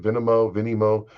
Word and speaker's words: Venmo: In two late night Venmo, that's how you say it, Venmo transactions in May 2018, Representative Matt Gaetz sent his friend, the accused sex trafficker Joe Greenberg, $900.